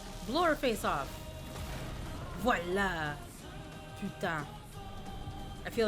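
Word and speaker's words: voilà: Velva. Wait, is that really how an American says voila? Velvita. The voila would be more like oi. Voila.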